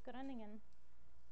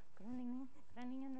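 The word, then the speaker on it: Groningen: main building in the University of gruntingen Netherlands I don't say it correctly you're supposed to go like running in or something like that but anyway um it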